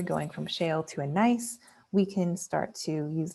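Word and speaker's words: gneiss: eventually get to a metamorphic rock called a nice and it's pronounced like the word nice even though it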